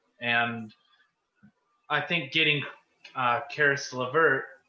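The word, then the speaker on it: Caris: i think getting uh charis levert is that how you say it it's not chris right it's paris um in order to get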